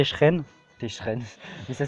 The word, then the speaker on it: Cheren: Moi, avant tout début, je disais Cheren, après il nous dit qu'il était Techeren.